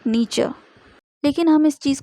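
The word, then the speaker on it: Nietzsche: हो सकता है, क्योंकि हमारी हिंदी बुक्स में नीत्शे करके दिया है, लेकिन इनका करेक्ट प्रोनाउंसिएशन है नीचे, यानी फ्रेडरिक नीचे।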